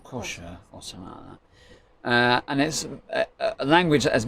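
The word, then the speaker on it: Xhosa: the clicking language called it's spelt XH OS a let's pronounce kosher or kosher and there's a language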